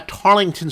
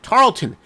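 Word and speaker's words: Tarleton: people made uh comments making fun of my pronunciation anyway if I do say uh tarlington State sorry Tarlton State regardless of how we pronounce it it's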